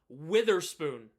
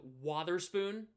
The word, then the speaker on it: Wotherspoon: Witherspoon instead of Wotherspoon, which is how you pronounce it, Wotherspoon or Wotherspoon, not Reese Witherspoon, you know?